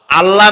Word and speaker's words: আল্লাহ: আল্লাহ নয় কিন্তু, আল্লাহ হচ্ছে অশুদ্ধ, শুদ্ধ হচ্ছে আল্লাহ। বলার সময় মুখটা গোল হয়ে যাবে।